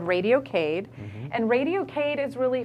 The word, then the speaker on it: Cade: And if you're not familiar, Cade is spelled C-A-D-E.